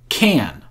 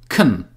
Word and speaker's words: can: In the sentence, I do what I can, the word can has strong pronunciation, which means that we pronounce it like can.